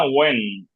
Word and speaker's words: When: আর এটা হোয়েন না, ওয়েন। এইটা উচ্চারণ হবে না, ওয়েন।